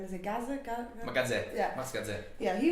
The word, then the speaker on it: Gazzè: How do you pronounce his name? Is it Gazzè? Gazzè.